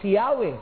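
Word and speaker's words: Yahweh: May naghinuha na yun daw YHW wh must be pronounced as Yahwe kaya nilagyan nila ng vowels na YHW wh nilagyan nilang a at saka E.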